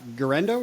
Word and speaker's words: Guerendo: Forgive me, I'm going to butcher this name, but Isaac Guerendo, is that how you pronounce it?